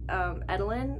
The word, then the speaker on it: Eadlyn: But this main character, Edelin, I believe is how you say it, because they call her Eddie, I think.